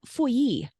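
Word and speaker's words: Feuilly: But then we have Fouilly, which is a really hard name to say, but when you see a double L in French, you pronounce it like a Y.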